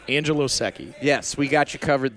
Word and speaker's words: Secchi: how to find it no it's not like s e Ki or something like that s e c CI it's Italian Angelo SEI yes we got you